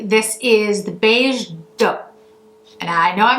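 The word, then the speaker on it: Doux: right French accent, but doe is the way that I've been told that this is pronounced. So if I'm butchering it, I do apologize, but I at least understand that that is the correct pronunciation.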